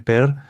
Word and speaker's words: PER: Por eso en Corea simplemente lo llaman per o también lo pronuncian como per. Y en algunos sitios extranjeros a veces omiten la R y simplemente lo indican como P. Así que P, pero, per, todos significan lo mismo.